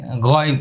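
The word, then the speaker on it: غين: এবার এই হরফটি বলবো, গাইন। এটি হলো 3 নম্বর মাখরাজ। কয় নম্বর মাখরাজ? 3 নম্বর মাখরাজ। হলকের শেষ ভাগ, মানে কণ্ঠনালীর শেষ ভাগ। এই হরফটি উচ্চারণে মোটা হবে।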